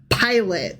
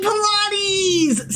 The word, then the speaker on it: Pilate: Jesus was brought before pilot as in Pontious Pilot. Okay. But the name IS SPELLED LIKE PILATES. So it's going to be really hard for me to like No. Pilot. Pilot. Pilot. Not Pilates.